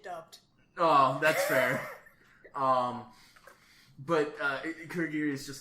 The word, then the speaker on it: Kurogiri: It's Kurogiri. So I don't hear that vowel in there at all. Here's a trick. Watch it dubbed. Oh, that's fair. But Kurogiri is just like, I mean, I guess we can leave.